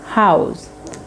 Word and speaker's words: how's: So, when is the when's about when does how is how is a contraction from house? House.